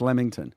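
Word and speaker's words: Leamington: Lamington. I said he wrote it Lamington. Yeah, but it's pronounced Lamington.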